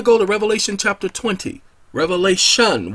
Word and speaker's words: Revelation: Revelation without the S. Sorry, for most of my life, I pronounced it with an S.